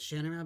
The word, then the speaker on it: Shannara: greatly love and admire, pronounces it Shannara, but for me, it's always going to be Shannara, and I'm sure that I'm not the only one out there.